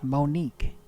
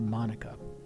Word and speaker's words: Monica: and I said oh that's an interesting name Monique and she said actually no the way that it's spelled out it's supposed to be Monica she gave me her